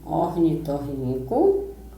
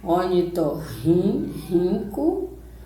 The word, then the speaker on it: ornitorrinco: Olha como é que pronuncia esses R aí. Ornitorrinco e escorre. É como se eu estivesse lendo ra, ré, ri, ró, ru inicial. Certo? É o mesmo som do rico.